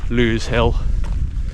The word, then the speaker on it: Lose Hill: So I think that all but confirms that it is pronounced Lose Hill and not Lose Hill or anything like that.